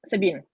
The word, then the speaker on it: Sabine: You don't pronounce the T, Sabine.